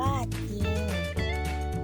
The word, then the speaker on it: จริง: สส นะ คะ คํา ควบ กล้ํา ไม่ แท้ ที่ ควบ กับ รอ เช่น จริง อ่าน ว่า จริง ไซร้ อ่าน ว่า ไซร้